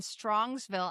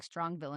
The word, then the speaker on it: Strongsville: And Strongsville. I was saying it wrong. I was saying Strongville and it's an S.